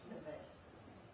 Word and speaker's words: Nevaeh: And is it, am I saying it correctly, Nevaeh? Nevaeh.